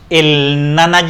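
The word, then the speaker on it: Jnana: Y también tenemos el Nana Yoga, ¿sí? Es más o menos así como se pronuncia, que tiene que ver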